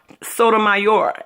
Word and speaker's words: Sotomayor: It's spelled like mayor at the end, like if you got a mayor, but it's mayor.